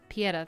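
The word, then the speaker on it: Pietà: Pieta.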